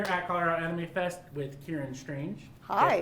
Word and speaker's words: Ciáran Strange: am here at Colorado Anime Fest with Ciáran Strange. Hi. Did I pronounce that correctly?